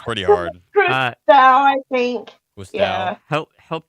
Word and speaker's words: Cousteau: Pierre de Coubertin, Jacques-Yves Cousteau, Alexander Gustave Eiffel, or Charles Julius Guital?